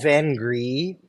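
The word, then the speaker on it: vin gris: this the the the technically we call it van gree but that can be difficult for people to pronounce so we've really leaned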